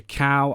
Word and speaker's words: Calle: Now, obviously above these two, we've got Sasha Calle.